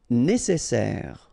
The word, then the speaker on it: nécessaire: Nécessaire. Don't insist on the final E.